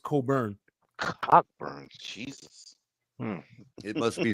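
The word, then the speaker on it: Cockburn's: You see it's it's spelled cockburns. Damn. Damn. It's not silent. Yeah, there's a Yeah, there's a port. If you see it, it's it says cockburn, but it's it's it's pronounced cobburn.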